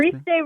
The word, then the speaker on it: Christe: They're from Christy Rex Productions. Did I pronounce that right? Christy? Did you? Is that how it's Christe Rex Productions. Christe, yes, sir. Christe, thank you.